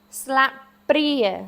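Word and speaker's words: ស្លាបព្រា: Your pri is your accented syllable. Slap pri. So sla, this has your ah sound in it. Slap. But once again, your p is not. It's not slap.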